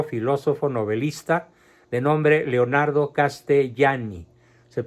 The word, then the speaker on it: Castellani: jesuita escritor teólogo filósofo novelista de nombre Leonardo castellani se pronuncia castelani les ruego por favor a los que realmente